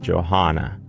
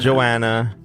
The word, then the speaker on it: Johanna: Johanna. Not Joanna or Joan.